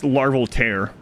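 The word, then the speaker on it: Larval Tear: least one larvel tier what have we' been pronouncing it wrong the whole time it's larvel tear just like zel the tears of a kingdom who gets to make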